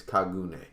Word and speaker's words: kagune: so it's okay so both misk and 88 pronounce it the same way so we're gonna go with that it's kagune all right let's jump right into chapter nine